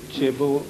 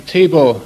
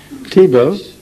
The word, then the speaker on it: Thibaut: By the way, what was the right pronunciation of your name? I'm Thibaut. Thibaut?